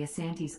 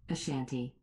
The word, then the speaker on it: Asante: name comes from the asante's origin as a kingdom created to fight the dankier kingdom the variant name the shanty comes from british reports that transcribing asante as the british heard it pronounced ashanti the hyphenation was subsequently